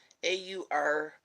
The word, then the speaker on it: Aurelien: Or Aurelian, if I can say it. Oh, Aurelien.